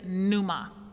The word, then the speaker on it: pneuma: In the New Testament, the Greek word used for Holy Spirit is pneuma.